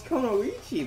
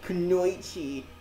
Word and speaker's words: Kunoichi: Like, seriously, how come they never pronounce Kunoichi the right way? It's always Kunoichi.